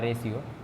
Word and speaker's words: ratio: हाँ रेशियो है वो, हाँ रेशियो। रोटी नहीं लिखेंगे, रेशियो है। रेशियो टी के बाद आई रहता है ना तो सी एस का प्रोनाउंसिएशन आता है।